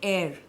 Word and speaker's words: heir: example, when we say air. Rani Lakshmi Bai did not have an heir to the throne. So, H is not pronounced. This is pronounced as air. Same like how we pronounce air.